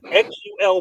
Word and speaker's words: Xul: Xul, I still don't know how to pronounce X U L Brewing. out of Knoxville, Tennekey. It By the way, it must be Xul because when I ask for Xul, they know what I'm talking about.